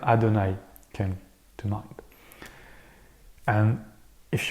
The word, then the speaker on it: Adonnaï: what that character was this time the name Adonai came to mind and if you've read the novel as it's in English yes it's pronounced Adonai Adonai so here you have the background story between